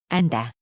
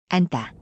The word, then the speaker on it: 앉다: Those 2 words have totally different meanings, but they are pronounced same. 앉다, 앉다.